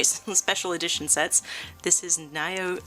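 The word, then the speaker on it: Nioh: This is Neo 2, or Neo 2. I think it's pronounced Neo, honestly. But I've heard it both ways, so I will say it both ways.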